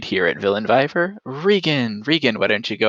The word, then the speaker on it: Regin: Okay, it's Regin. It's just nice, short, and sweet. I promise it's not Rain. It's not Reggie. It's just Regin.